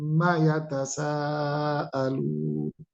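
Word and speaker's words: عَمَّ يَتَسَاءَلُونَ: dia bertasdid tasdid itu berhenti pada huruf Ma dengan dengung am ada ada getar di hidung bagian atas ini namanya gunah am ditahan am setelah itu pendek am hati-hati bacanya Ya Amma yatasaalun itu bacanya am Amma yatasaalun maknanya adalah an ma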